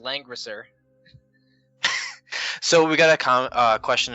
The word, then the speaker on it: Langrisser: I don't have it up, but it's pronounced Langrisser.